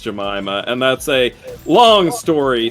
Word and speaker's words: Jemima: Yes, it is pronounced Jemima, and that's a long story steeped in the sordid history of American racism and slavery as to what happened there.